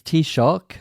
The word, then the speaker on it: Taoiseach: Okay, so it's Taoiseach, that's what you call the Irish Prime Minister.